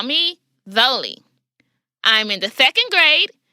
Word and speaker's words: Zolie: hi my name is Zoli pronounced though Lee my middle name is